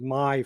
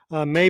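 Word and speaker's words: Karl May: based on the popular carl may or did they pronounce it my films and novels written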